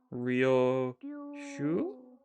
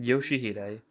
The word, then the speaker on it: Yoshihide: Ryoshu? 슈? 아니, No, 그 글자는 that's 그렇게 not how 읽는 you 게 read those 아니라 letters. 요시히데라고 Yoshihide, that's how you say it.